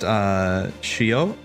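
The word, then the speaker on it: 潮: But they discovered this kanji, which is pronounced shio.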